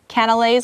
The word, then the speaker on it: canelé: The nuns later added different ingredients to their baked goods and eventually came up with canelés. I keep wanting to say cannoli, but that's an Italian thing. Canelés.